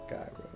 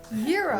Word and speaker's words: gyro: Because it's Greek. Gyro. Euro. Wow. Yeah, it's called euro.